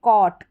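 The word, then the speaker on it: caught: फर्क क और ट यह जो जी एच रह रहा है यह बीच में यह साइलेंट है यह साइलेंट है इसका उच्चारण नहीं हो रहा है और वैसे भी ए यू जी एच टी इस पूरे का पूरा कॉमिनेशन इसको ऑट करके पढ़ते हैं सी एल को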